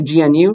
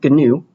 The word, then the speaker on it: GNU: reading it for the first time you'd say gnu but apparently you pronounce it as gnu okay uh even though there is a word